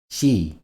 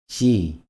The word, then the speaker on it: 씨: 쓰 – ㅣ => 씨 – 씨 '씨' se pronuncia de manera similar al sonido inicial de una palabra como 'see'.